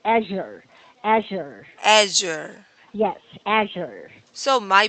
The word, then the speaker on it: Azure: Azure. The stress. Azure. Yeah. No, you're right. I'm sorry. The stress is on the first part. Azure. Azure.